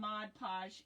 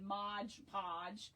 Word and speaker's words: Mod Podge: So, I'm just taking some Mod Podge in here. And I'm think I'm saying it correctly this time because I have a habit of saying Modge Podge.